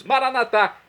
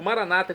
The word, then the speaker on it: Maranata: E agora eu clamo do aramaico dialeto de Jesus, Maranatá, como dizemos nós católicos, ou Maranata, como dizem nossos irmãos separados, os evangélicos ou protestantes. Não importa a pronúncia, o significado é o mesmo.